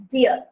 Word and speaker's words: deer: as d a lot a lot of people pronounce deer as d but it's actually deer deer deer d e e r the